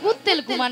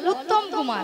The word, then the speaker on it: উত্তম কুমার: ও শ্রী শ্রী শ্রী উত্তেল কুমার নয়, বলো উত্তম কুমার।